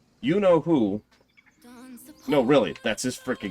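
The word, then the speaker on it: Yeenoghu: is you know who well that is apparently how it's actually pronounced by the way you know who no really that's his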